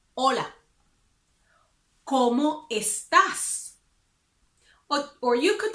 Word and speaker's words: hola: And then you can say, hola, hola. We don't pronounce the H because it's silent. So we don't say hola. We say hola.